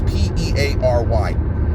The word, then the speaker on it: Peary: I think he pronounces it Perry, but it's Peary.